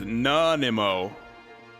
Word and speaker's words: Nanaimo: Nanimo pronunciation. So it's Nanimo.